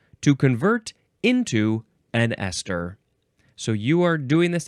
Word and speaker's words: ester: This is an abbreviation for ester, which is our next word. Huh? Ester. It sounds the same as Esther from the previous episode, but it's spelled with